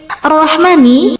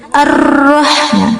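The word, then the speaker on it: الرَّحْمٰنِ: Bismillahi arrahmani. Tasdidnya lafaz arrahmani. Fauq roi yaitu di atas ro arrahman. Sama seperti tasdid pada alam jalalah tadi. Jadi jangan terlalu ditekankan tasdidnya. Arrahmani. Arrah itu juga kurang tepat ya.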